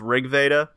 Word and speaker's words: RG Veda: work title was uh rg veda it's pronounced rig veda story focuses on old